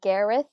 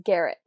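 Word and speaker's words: Garreth: story of Lucia and Gareth. Gareth. I have to remember, in my head, I'm reading it as Garrett. For some reason, same. I can't get the TH.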